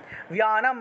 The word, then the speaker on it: व्यानं: धर्मधारिणी प्राणापानो तथा व्यानं व्यानं বয়ের সাথে জফলা ছিল व्यानं उदानं च समानकं